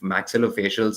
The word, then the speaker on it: maxillofacial: I have someone right now asking about the maxillofacial surgery. Is that how we pronounce it? Maxillofacial. Yes.